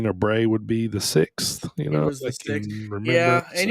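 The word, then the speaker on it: Sicks: The Wyatt 6 but it's spelled s i c KS but it's supposed to be like six the number six now you know um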